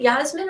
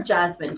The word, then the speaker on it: Jasmine: Is it Yasmin or Jasmine? Do you pronounce the J like a hard J, or do you pronounce it like a Y? Definitely I want to know. Definitely a J.